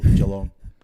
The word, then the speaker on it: Geelong: Yeah, we go easy on the first syllable. Geelong.